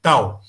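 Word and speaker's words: tau: Tal se escreve T-A-U, tal. Tal.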